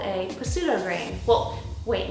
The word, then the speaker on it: pseudograin: is what's called a pseudograin well wait no that's not not pseudo a pseudo grain it's a silent p kind of like psychopath you wouldn't say psychopath buckwheat is a pseudo